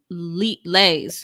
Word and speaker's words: Lay: my question, Vanessa Lay's last name is pronounced like Lay, according to Outlook. Okay, so Vanessa Lay. Cool. Because I wasn't sure, because I was like, well, there's no 2 E's, so it can't be Lee.